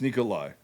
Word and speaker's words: Nikolaj: It's Nikolai. It's just the fucking J is a Y.